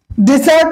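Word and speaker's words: dessert: আগে দুটো নিয়ম শিখি এখানে একটা হচ্ছে ডিজার্ট ডেসার্ট অর্থ মিষ্টা এবং ডেজার্ট অর্থ মরুভূমি বানানের ক্ষেত্রে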